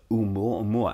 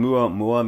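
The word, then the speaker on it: ʻOumuamua: So the discovery team at Pan-STARRS in Hawaii came up with a name, and it's Oumuamua, and I've actually mispronounced that.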